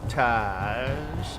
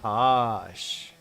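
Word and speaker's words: Taash: Is it Tash or Task? Her name is Tosh. We need to talk to Tosh. Too bad there isn't really like a better pronunciation for a double A. Like double E is E. Double O is ooh. If they had a double A, what would it be? Where is she?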